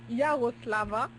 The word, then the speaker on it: Yaroslava: Yaroslava, merci, Shvedova. Je vais devoir. Bah oui, bah c'est juste que je ne prononce pas le V.